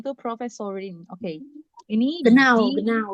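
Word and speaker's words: Professorin: Oke, jadi bacanya itu profesorin.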